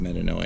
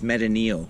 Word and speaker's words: metanoia: chris by the way it's not even pronounced metanoia okay my name is chris that's fair pronunciation how would you pronounce it it's meta neil okay and it means